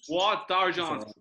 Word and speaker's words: Bois d'Argent: It's Bois d'Argent. That's the best pronunciation I've ever said now in the whole year.